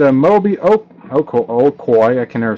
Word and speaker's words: Okoye: now we had a mobi oak oak Oh okoye I can never say his name three of 75 rookie letter letterman a COI yay there you go I went to a robber